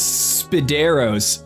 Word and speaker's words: Spidero's: Supposed to go off to Spidero's, you said it was? Spidero's, spelled like spider with O's.